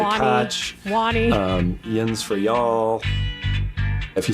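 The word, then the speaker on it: yinz: Yins for y'all.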